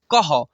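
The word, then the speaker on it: कः: और यहाँ पर क में विसर्ग लगा हुआ है, तो इसको पढ़ेंगे कह, ठीक है। ऐसे उच्चारण करना है।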